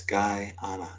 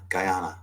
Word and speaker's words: Guyana: Yes, it's pronounced as Guyana. Guyana.